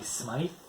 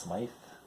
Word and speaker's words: Smyth: And I got some Patti Smythe. I think it's pronounced Smythe. Could be Smith. I think it's Smythe though.